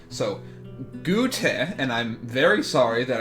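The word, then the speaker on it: Goethe: I'm tired of getting these names wrong so gute and I'm very sorry that I keep butchering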